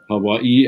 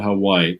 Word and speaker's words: Hawaii: I lived in Hawaii and it was appreciated that I pronounce words as the locals do. Hawaii and not Hawaii.